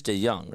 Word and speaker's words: DeJong: It is DeYoung, right? Yes.